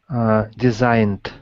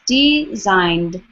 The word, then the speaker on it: designed: Designed. Good, yeah, make sure that ED on the end is not an extra syllable. Just two syllables. Designed. Excellent. Designed.